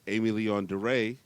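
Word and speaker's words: Aimé Leon Dore: Cut to earlier this week, Amy Leon DeRay drops a commercial on their Instagram.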